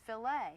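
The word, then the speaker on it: filet: It's pronounced filt.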